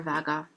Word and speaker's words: VG: Har du VG, which is the newspaper vaga. Sorry, that's so hard to say slowly to y'all. VG is the newspaper, and it's pronounced like the two Norwegian letters melded together.